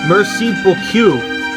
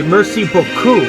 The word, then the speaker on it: merci beaucoup: what did you say i just said merciful q isn't that how it's pronounced oh you meant to say merci beaucoup but i'm afraid of sound sounded more like oh cool which means you told